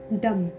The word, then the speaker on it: dumb: Third नंबर का ले लेती हूँ, डम। डम, DUMB। यहाँ पे बी लिख रहे हो लेकिन एम का साथ है, एम आ रहा है इसके बाद, तो हम बी प्रोनाउंस नहीं करेंगे, डम।